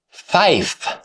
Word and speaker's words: fife: Fower, fife. 5 became fife because the modified pronunciation is more distinct and easier to recognize over poor radio communications.